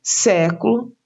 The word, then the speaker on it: século: Vejam os exemplos: próximo, século e época. Então, próximo está acentuada a antepenúltima sílaba, pró. Século, antepenúltima sílaba, sé.